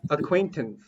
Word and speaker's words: acquaintance: Where's the stress? Acquaintance. Acquaintance. Acquaint- Second syllable. Yeah. So acquaintance.